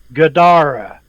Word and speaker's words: Gadara: To his amazement, it uttered a three-syllable word which sounded like Gadara, with the emphasis on the second syllable.